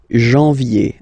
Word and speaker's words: janvier: So that's the way to pronounce it. Janvier, A-N, en, okay? And then yé, yé, yé, janvier.